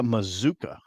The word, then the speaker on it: Mazuka: so today today Micah Mazuka rhymes with bazooka it doesn't look like it if you look at how it's spelled though no because it